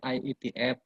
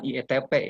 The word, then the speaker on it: IETF: IETF itu kan ejaannya dalam bahasa Inggris, jadi bacanya IETF. F sama P beda ya, bukan IETP ya.